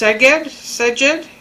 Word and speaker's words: Szeged: It's pronounced Szeged, medium heat.